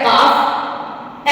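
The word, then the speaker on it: calf: L silent होता है अगर ए ओ यू के बाद एल आता है तो वो वहां पर साइलेंट होगा जैसे सी ए एल एफ काफ एच ए एल एफ हाफ सी एच ए एल A Chowk Y ए एल के या पी ए एल M palm तो आपने इसमें देखा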